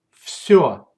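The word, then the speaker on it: всё: If the letter yo follows zh or sh, then it's pronounced like o. Let's see examples. Береза, береза, береза. Лед, лед, лед. Все, все, все.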